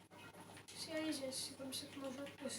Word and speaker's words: Xbox Series S: Série S. Series S, c'est comme ça que moi je... C'est comme ça que Microsoft le prononce. C'est une série, donc il n'y a pas de S à la fin.